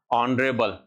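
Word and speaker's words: honourable: ऑनरेबल S silent है।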